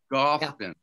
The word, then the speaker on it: Goffin: Goffin. Yeah. Goffin. There's no go. It's not like stop and go. It rhymes with a coffin.